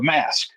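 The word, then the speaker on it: masque: first appearance of the Mask you know like Jim Carrey like Jim Carrey's mosque yeah yeah it's spelled m-a-s-q-u-e but that is the mat it's actually the mask and uh grade it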